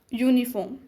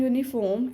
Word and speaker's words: uniform: mobile a not and the vowel you in University and uniform and the vowel EU in European sound like you and these words